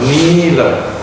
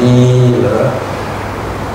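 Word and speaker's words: nīla: It is important to put in brackets after blue the word nila. N-I with a macron over the I, long I sound, nila.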